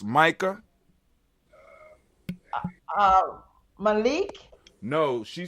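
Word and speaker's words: Maika: And the younger one name is I think it's pronounced Micah. Malik. No, she spelled M-A-I-K. Hold on, where is it at? My eyes. Oh, my eyes. Lord have mercy. M-A-I-K-A. Micah.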